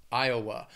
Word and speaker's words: Iowa: next one which is Iowa Iowa has three syllables and the stress is on that first syllable Iowa again Iowa spelling pronunciation a little crazy IA that second syllable has that schw Iowa and when I